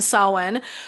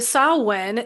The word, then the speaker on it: Samhain: So first things first, we are going to talk about the holiday of Halloween, and it's actually pronounced, hopefully I'll get it as correctly as I can, Samhain, which is coming up, and that's the day between October 31st, November 1st.